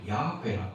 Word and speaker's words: 야훼: 이제 우리식으로 발음해서 여호와인데 원래 야훼라고 합니다.